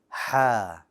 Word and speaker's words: ح: ha too bold back your tongue needs to stay flat also ha unlike gym